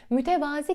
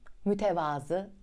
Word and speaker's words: mütevazı: ilk üçüne yaklaşmakta yız üçüncü sırada mütevazı yer alıyor mütevazi kelimesini o kadar sıkıyoruz ki artık bence değiştirmenin ve düzeltmenin tam zamanı mütevazı doğrusun tevazu sahibi demek keken 20